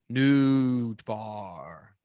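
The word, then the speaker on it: Nootbaar: just an amazing name and his last name is spelled n-o-o-t b-a-a-r nude bar i don't believe that he's real and i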